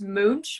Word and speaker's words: Münch: get it right so it's actually it's mooch with the um lots but it gets so mixed up all the time it's either munch minch or mooch but yeah so so